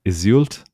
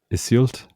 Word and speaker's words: Iseult: I'll spell it. It's Iseult. Iseult.